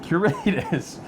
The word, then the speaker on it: Curatus: Curatus.